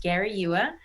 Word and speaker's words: Garayua: my last name is g-a-r-a-y-u-a it's pronounced gary ewa so it's at gloria